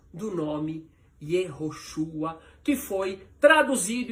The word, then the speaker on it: Yehoshua: Esse é o significado original e essa é a pronúncia do nome Yoshua que foi traduzido e transliterado de forma errada, assim como Jerusalém e assim como judeus.